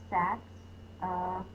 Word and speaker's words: saxophone: Sax-a-phone. Sax, short A, it's a closed syllable. Is the schwa, spelled as a O, saxophone.